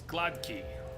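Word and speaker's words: gładki: quranic said no and I looked it up it's glod key there's an eye not an A at the end I got all sad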